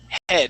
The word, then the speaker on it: head: okay and that e that EA makes a short e sound okay it is e e head head hammer head there